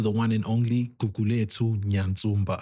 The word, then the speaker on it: Nyatsumba: Oh, Nyatsumba. Nyatsumba, yes.